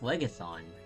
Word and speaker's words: Phlegethon: Oh, it's pronounced Phlegethon.